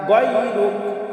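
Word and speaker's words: غَيْرُكَ: ওয়ালা ইলাহা গায়রুক গায়রুক। আমরা অনেকেই পাঠ করি গায়রুক, আসলে গায়রুক হবে না, এখানে গয়ন আছে, গয়নের উচ্চারণ আমরা গয়ন গায়রুক গায়রুক।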